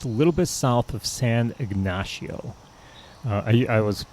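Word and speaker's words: San Ignacio: Ray is just a little bit South of San ignasio uh I I was pronouncing it San ignatio but I was corrected by the locals at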